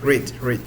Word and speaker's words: read: That is read. Because the past tense form is like the color red.